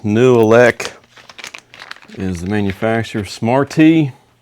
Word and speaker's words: Nooelec: This is a uh new elec.